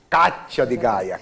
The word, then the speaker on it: Cathia d Gaya: Cíntia não, Kátia de Gaia. Kátia, C-A-T-H-I-A, o D mudo, Gaia com Y.